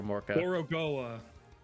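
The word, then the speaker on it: Gorogoa: It's not Gorka. Gorugoa.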